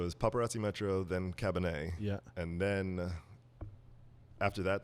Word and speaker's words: Cabernet: Cabernet.